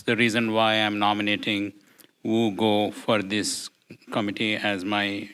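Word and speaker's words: Vu Ngo: I'm going to nominate Wu Go. It's spelled VU, and last name is spelled NGO.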